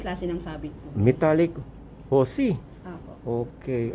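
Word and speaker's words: jusi: Metallic husi. Apo. Okay. Ano spelling ng husi? Z-U-S-I. Ah, Z. Jay po. Ah, Jay? J-U-S-I. O, parang sa Lin H ang pagkabasa. Yes po. Okay. Pronounce po siya as H.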